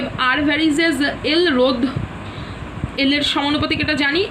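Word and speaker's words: ρ: তো rho into L/a, যেখানে রো হলো সমানুপাতিক ধ্রুবক, উচ্চারণটা কি? রো।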